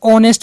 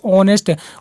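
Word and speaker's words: honest: अब ऑनेस्ट जो होता है उसमें एच जो होता है वो हमारा साइलेंट होता है, इसलिए ऑनेस्ट ओ से शुरू होता है, ठीक है।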